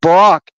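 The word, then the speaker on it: ברק: Barak in Hebrew, Baraq, it's pronounced Barak.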